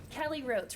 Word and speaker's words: Rhodes: Kelly Rhodes, rhymes with boats.